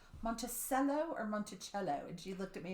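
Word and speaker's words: Monticello: too is it pronounced in Arkansas is it pronounced Montello or monello and she looked at me and she said Montello okay that's like here if you ask me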